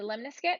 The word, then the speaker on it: lemniscate: our graph of the lemniscate and here is how you pronounce this this is lem n I s CA te lemniscate and this has a